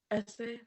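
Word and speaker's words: Ese: Essay.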